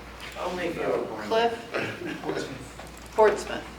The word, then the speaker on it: Portsmouth: Portsmouth. It's like Norfolk. You just say that.